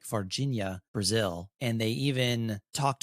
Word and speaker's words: Varginha: So I have a Brazilian friend who labored for hours to try to teach me to pronounce it properly. And it's something like varginha.